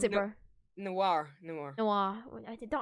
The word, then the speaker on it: noir: spider-man noah and then you go to spider-man no wire no no why how do you pronounce it bro noir no more noir i don't have a golem